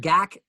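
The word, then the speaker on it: GACC: called mind the gak and gak is spelled g-a-c-c and it stands for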